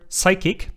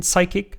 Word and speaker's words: psychic: to the fact that some people pronounce the P in psychic, even though it's supposed to be silent a bit like the word pterodactyl, the flying dinosaur.